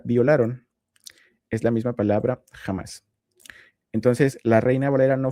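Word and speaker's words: חמס: Esta es la pronunciación en hebreo, jamás. Y si yo me voy al versículo anterior, en donde dice que sus sacerdotes violaron mi ley, aquí esta palabra violaron es la misma palabra jamás.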